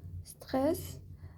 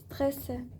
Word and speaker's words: stressé: Alors, quand il y a un accent, Anadi, tu sais ce qu'il faut faire. Oui, stressé. Voilà, c'est important, hein, les accents.